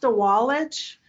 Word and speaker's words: Didgwalic: And it's pronounced Dewallich. And Dewallich is an interesting program.